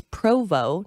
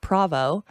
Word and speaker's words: Provo: and were like it's Provo not proo it's been hard for me to change it and I've actually been criticized for that they're like somebody who doesn't know how to read Provo right or saying it wrong they obviously don't know